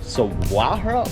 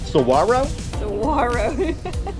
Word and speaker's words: Saguaro: national park number nine spelled like this but pronounced saguaro saguaro saguaro national park i'm trying y'all named after